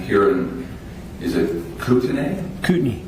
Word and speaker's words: Kootenai: Kootenai. Kootenai, okay. So Kootenai County, as the locals say it, okay.